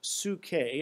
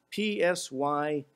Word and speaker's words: psyche: The Greek word for soul is pronounced psyche. It's, in English, it's spelled P-S-Y-C-H-E, or we call it psyche.